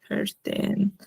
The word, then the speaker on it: verstehen: Y bueno, acá algo curioso, además que se pronuncia, o sea, mira, separándolos por sílabas, podemos pronunciarlo como les he comentado. Por ejemplo, em, este es, ER es como una EA, FEASH, y luego la ST como una SH, ¿no?